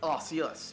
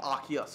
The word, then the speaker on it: Arceus: four is Pokemon Legends Arceus or Arceus however you want to pronounce however you want to